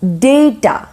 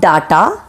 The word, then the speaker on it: data: its jewelry okay number 23 is data it is not data if you're calling it as data then it's wrong it is data okay data 24 is develop